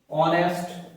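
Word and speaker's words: honest: an article लगाना पड़ेगा एच ओ यू आर आर ऑनेस्ट Narel इसको माइंड कर लेना ठीक है नरेल और एच ई आई आर एयर ठीक है इनमें एच साइलेंट होता है बाकी सारे वर्ड्स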